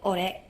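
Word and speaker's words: 俺: So my realization of the title is supposed to be pronounced as Magical Girl Ore, which is like the male way of saying me or I in Japanese.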